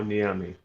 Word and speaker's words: Nyame: them up and uh dr niyame is that am i set pronouncing that correctly uh yeah yao niyami yeah on the army